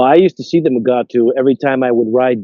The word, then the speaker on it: Mugato: I also noticed that in the subtitles it was m u g a t o mugato, but the way they kept pronouncing it was mugatu.